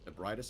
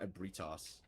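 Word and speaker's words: Ebrietas: Ebridis. Okay, my bad. Not abritos.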